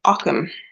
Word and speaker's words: Ogham: late with your mind repeating the definition of Occam okay so ockham is from the um Irish language obviously it's spelled all of them and but it's pronounced Occam um yeah it's a bit of a the